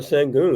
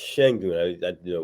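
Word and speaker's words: Şengün: most recently during COVID in 21, uh, Alperen Sengun in Houston. And I think it's pronounced Shengun.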